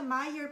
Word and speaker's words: Meier: y la hora la toman ahí con Martina Meyer, se escribe Meyer, se pronuncia Meyer, pero es M-E-I-E-R, así se escribe, es inmunóloga clínica.